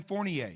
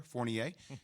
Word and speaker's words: Fournier: right and everybody's saying well they got evan fournier that's how you pronounce his name for everybody out there fournier talented player averaging 19 points can shoot the